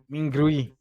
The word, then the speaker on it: Mingrui: Mingrui is how you say it.